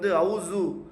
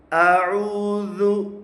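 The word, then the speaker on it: أعوذ: சில பேர் உருது பேசும் முஸ்லீம்கள் அவுசு அவுசு பில்லான்னு சொல்லுவாங்க, அது தவறு. அஊது து தால் து அஊது பில்லாஹி பில்லாஹி.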